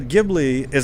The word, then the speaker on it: Ghibli: morning not so much start it so the gibl is that pronounced correctly by the way that is correct